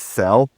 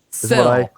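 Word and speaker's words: Sele: It begins in the early 1400s, when two Welsh nobles, How the hell will I say his last name? I think it's Sell. Sell. That's what Google told me.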